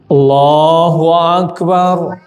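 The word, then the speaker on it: الله أكبر: Allahnya panjangnya berapa? Dua. Allahu Akbar. Sudah benar dua ya. Allahu Akbar. Dua. Samiallah liman hamidah. Dua. Allahu Akbar. Empat. Bahkan sampai enam itu mestinya Allah itu panjangnya kan dua dua.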